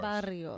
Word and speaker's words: barrio: So, Lupe Sanchez in the building, amazing cannabis, Barrio Grown, Barrio, you have to roll your R's. Barrio.